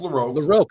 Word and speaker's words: LaRocque: LaRock and Joe Rubinstein Greg larocque Greg laroque it's pronounced laroque thank you and Joe